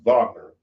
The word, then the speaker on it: Wagner: It's spelled Wagner, but it's pronounced Wagner.